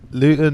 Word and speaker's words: Luton: Luton is how you pronounce it. Luton.